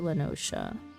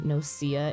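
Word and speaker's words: La Noscea: Cobalts are in outer lenosa no I've conditioned myself to saying noia instead of lenosa and now it's hard to switch over to the correct pronunciation game needs to tell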